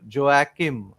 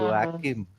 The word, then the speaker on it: Joachim: Joachim. Mm, uh, Yes. Jerkowitz, which is actually Yerkowitz. So there are many names that start with J in Germany, Hmm. but they are pronounced with Y.